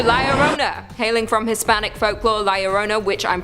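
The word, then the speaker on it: La Llorona: a number two layerona hailing from Hispanic folklore liarona which I'm pronouncing correctly now after you guys yelled at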